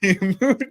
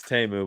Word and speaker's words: Temu: Timu Tom. It's Temu, by the way.